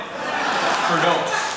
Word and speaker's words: Firdous: fear to bom gud he pronounced my name wrong say what is it it's um f it's okay fos fos do not forget it fos this is terrifying um